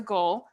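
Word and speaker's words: ghul: heard that yeah so a male goal is referred to as a goal while the female is called a goula i was going to say a goulet yeah no and it's spelled really interesting so like i see ghoul as g-h-o-u-l yes and the male ghoul is g-h-u-l so without the o and then female is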